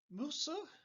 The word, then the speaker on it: Musa: Musa is the Arabic pronunciation of Moses.